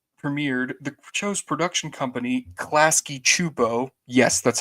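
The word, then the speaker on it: Klasky Csupo: before the series premiered the show's production company clasy chupo yes that's how you pronounce it it had made a pilot not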